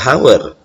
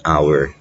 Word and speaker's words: hour: Yang uniknya untuk jam itu bacanya bukan a hour, hanya nggak dibaca, tapi bacanya an hour.